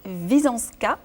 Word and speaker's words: Visoanska: Alors pour commencer, Wisąska. Bonjour. Bonjour. Est-ce que j'ai bien prononcé?